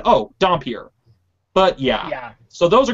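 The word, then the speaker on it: dhampir: redub some of the dialogue because, well, it's pronounced Dompier, not Dunpeel, not Doonpeel, it's Dompier.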